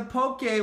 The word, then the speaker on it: Poke: such a huge craze right now in the Pope gay world and that's how you pronounce it by the way there's no little